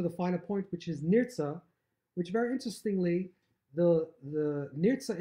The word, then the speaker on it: נרצה: final point, which is Nirtzah, which very interestingly, the Nirtzah itself, that final simon, the final mark in the Seder night, is Nirtzah. The last letter of Nirtzah is a silent Hey. Nirtzah, it could be technically